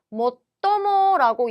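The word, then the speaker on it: 最も: 그래서 로봇에 대해서 이야기를 하고 있는데 로봇을 만들 때, 자, 요 최자는 발음 모토모라고 이야기를 해주셔야겠죠.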